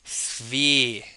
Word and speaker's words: sphere: Rhymes with here. Yes, it's called a sphere.